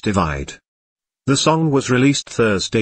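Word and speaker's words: ÷: romantic ballad perfect from his most recent album pronounced divide the song was released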